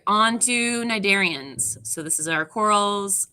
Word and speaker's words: cnidarian: or a nindocyte, actually, because it's like cnidarian. You don't pronounce the C.